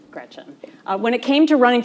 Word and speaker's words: Gretch: named after my grandma Gretchen, who I adore. It's funny though, because she always said, never let anyone shorten your name. Don't let people call you Gretch because it rhymes with wretch.